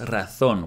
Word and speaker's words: razón: And again, the jota should have been harder, and razón should have been pronounced razón, with a Spanish zeta.